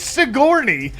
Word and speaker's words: Sigourney: Like so that could be Sjourney Weaver. I just don't know. Stop saying Sjourney. It's Sigourney.